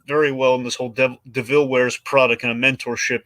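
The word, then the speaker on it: de Vil: I mean, they complement each other very well, and basically kind of have this almost Devil Wears or DeVille Wears Prada mentorship, which it's devil, but it's pronounced DeVille.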